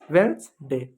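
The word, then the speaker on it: Wednesday: वेडनेसडे गलत है। वेडनेसडे नहीं है। ट्यूसडे नहीं है। थर्सडे भी नहीं है। फ्राइडे भी नहीं है। क्या है? वेडनेसडे है। वेडनेसडे ये डी साइलेंट होता है। वेनसडे।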